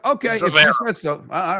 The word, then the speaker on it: Zverev: and she has said, tell Miller he's pronouncing Zverev incorrectly. Zverev? Okay. Zverev.